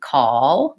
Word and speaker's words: call: a little different where the American Way of saying call call will have that dark L which sounds like oh so what am i